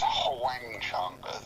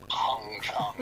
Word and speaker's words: Wang Chung: with Arista, and when our name was Wang Chung, Huang, Wang Chung. It was a name that people found very hard to pronounce for some reason. People used to call us Hung Chung, or they just couldn't get their heads around how to say our name.